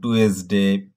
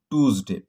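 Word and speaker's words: Tuesday: তো টিউজডেকে আমরা হয়তো অনেকে অনেক নামে ডাকতাম, যেমন কেউ বলতাম টুয়েসডে, কেউ বলতাম হচ্ছে টুইজডে ইত্যাদি নামে। তবে এর সঠিক উচ্চারণ হচ্ছে টিউজডে।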